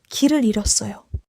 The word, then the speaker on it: 길을 잃었어요: 길을 잃었어요는 글자 그대로 읽지 않아요. 일의 히웃은 소리가 안 나요. Oh, so I should drop the final H sound and say 길을 잃었어요.